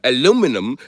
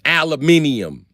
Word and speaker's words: aluminium: And the British is like, "Hey mate, I believe aluminum. Is there a pronunciation for aluminium?" It's aluminium. Aluminium. Aluminium. Learn to say it.